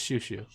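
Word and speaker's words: Chouchou: It's Shushu. But the fucking the subtitles fucked us. Or, well, they... Chochu. I said that the subtitles were going to cause problems, and lo and behold, you pronounced it wrong reading the subtitles. And I'm like, I was right. Like, the subtitles screwed us. Yeah. It should have been SHU for Shushu.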